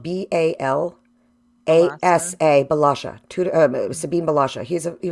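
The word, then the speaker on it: Bălașa: aquarium and his name is his last name is spelled b-a-l -a-s-a balaja Sabine balaja he's a he was a family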